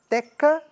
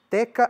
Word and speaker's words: teka: Existe o Pantum Teka, Teki. Aliás, antes o Nazihat, né? Nazihat se escreve N-A-S-I-H-A-T. Nazihat. Tem o Pantum Teka, Teki. Teka é T-E-K-A, Teki é T-E-K-I.